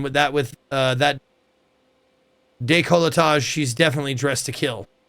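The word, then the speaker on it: décolletage: Day colage.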